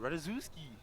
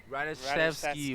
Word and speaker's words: Radziewski: Radziewski. I can about tell you this is not how it's pronounced. But Radziewski's you never know. Radishevsky. We have been corrected.